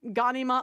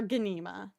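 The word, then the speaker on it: Ghanima: Yeah, I've heard it pronounced both Ganima or Gana.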